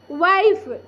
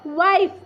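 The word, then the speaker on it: wife: क्या पढ़िए लाइफ अब डब् आई एफ ई वाइफ क्या पढ़िए वाइफ देखिए एफ आई एन E fine यहां पर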